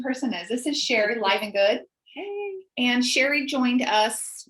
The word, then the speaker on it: Livengood: So you pronounce it Livengood technically. However, it could be Livengood.